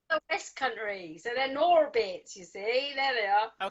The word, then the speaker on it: Gnorbits: they're Norbits for a start. You don't pronounce the G. It's a silent G because Okay, they're from the West Country, so they're Norbits.